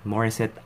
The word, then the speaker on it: Morissette: I'm on that's it Maurice it I'm one that's how you pronounce it mother said I'm one